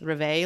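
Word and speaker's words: rêve: And now I want to talk about what deja reve is. And honestly, like these words are French. So y'all, if I'm saying reve wrong, maybe it's reve, like who the fuck knows? It's REVE.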